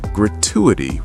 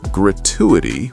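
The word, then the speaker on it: gratuity: Now, when I pronounce this word, I usually say gratuitity with a ch sound. You will also hear gratuitity with a t- sound. In North American English, they tend to say gratuitity.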